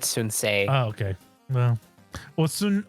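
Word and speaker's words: Sun Ce: Yeah, like, I remember, instead of Sun Se, it's Sun Si. Whatever. What did they call him? Was it Sun Si? Who? You know Sun Se? Oh, they just said Sun Se.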